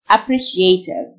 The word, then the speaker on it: appreciative: STIA تنطق شه. Appreciative.